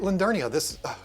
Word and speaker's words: Lindernia: I did, I said it right, Lindernia.